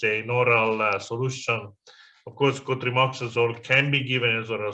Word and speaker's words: cotrimoxazole: The one is you mentioned that for pneumocystic uroveci, I think you said, I know that you meant cotrimoxazole, but you said cotrimazole.